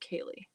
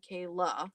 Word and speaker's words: Kaylee: Her name is pronounced Kaylee. Oh, did I say? Oh, okay. Kaylee, Vanessa. Oh, I'm sorry. Not Kayla. It's Kaylee. Awesome.